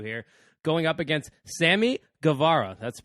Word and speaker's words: Guevara: founded a W here going up against Sammy Guevara that's the pronunciation right there it's a golf clap ace